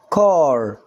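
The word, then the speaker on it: car: هنا حطيت لها السي، طبعا السي هنا تنطق زي حرف الكاف، لان هو طبعا ما جاش وراها لا اي ولا اي ولا واي، فعشان كده ننطقها زي الكي او الكاف. تبقى الكلمه ايه؟ كار.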